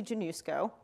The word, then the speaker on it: Januszko: DSC do so again my name is Janu schoo that's how you pronounce this so I am or